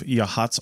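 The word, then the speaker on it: Yachats: coast just south of yhats Oregon spelled yit if you're trying to find it on a map it does not look like it should be pronounced that way for sure right uh we're going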